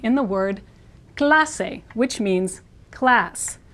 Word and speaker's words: clase: e in the word Clase which means class the a in Spanish is an ah sound and the pronunciation guide